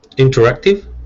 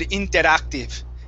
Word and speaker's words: interactive: Interactive? There you go. That's much better. Okay. When you're focusing on it, you pronounce it very well. Before you said interactive. Okay. Using a hard R, so it's interactive.